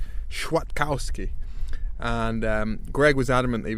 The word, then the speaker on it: Kwiatkowski: came back was it it should be pronounced something like sure Kowski and greg was adamant